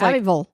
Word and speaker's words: Abbeville: South Carolina known as Abbyville and actually the end is supposed to be pronounced like it just has VL so I think it's kind of like a Louisville oh kind of thing